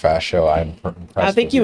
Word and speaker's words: Ferchaud: Ferchaud. If anyone read that and pronounced Ferchaud, I'm impressed.